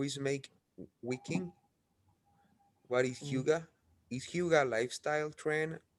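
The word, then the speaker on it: hygge: hugo yeah it says uh the word says pronounced hugo is a danish word used to acknowledge a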